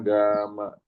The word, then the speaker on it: gamma: Ini dibacanya gamma.